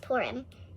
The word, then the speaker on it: Purim: Day pyramid Purim Purim I think it's pronounced Purim up here and pour him okay correct me if